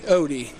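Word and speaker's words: Ody: It's pronounced just like it's spelled, O-D-Y. Odie.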